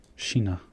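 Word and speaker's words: 品: It's pronounced shina.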